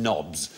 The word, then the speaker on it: knobs: Welcome to QA, where tonight the K is silent, as in knits, knots, knackers and knobs.